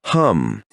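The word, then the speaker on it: Ham: Hum is written with the letters H-A-M, and sa is written with the letters S-A-H. The H always sounds like J.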